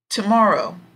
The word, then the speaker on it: tomorrow: part yesterday yes today this is a three syllable word where the strong part is in the middle tomorrow tomorrow tomorrow okay